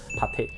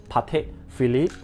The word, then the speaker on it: Patek Philippe: it myself very much, Patek. So you do not need to read the whole thing as Patek Philippe. Please do not pronounce it as Patek Philippe. The two words behind is actually silent.